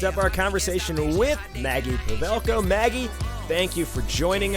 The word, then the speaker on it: Pawelko: Pawelko, yeah. Pawelko, yeah. There's the Polish pronunciation. The W is the V, yes.